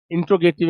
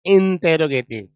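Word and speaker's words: interrogative: मतलब प्रश्नवाचक वर्ड जबकि हमारे ग्रामीण क्षेत्रों में इंटेरोगेटिव इंटेरोगेटिव चलाते हैं। No that's wrong प्रोनाउंसिएशन right प्रोनंसिएशन इज़ इंटेरोगेटिव सी इंटे रोगेटिव इंटेरोगेटिव that is the right प्रोनंसिएशन of this word right so once again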